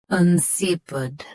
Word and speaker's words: insipid: Both US and UK have the same pronunciation of this word. Stress si. Keep un soft and end with pud. INSIPID.